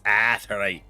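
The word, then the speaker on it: Aetheryte: Because there's an A, so you pronounce the A, damn it. Where do I... This direction, right? I will stand on this business that it's Aetherite.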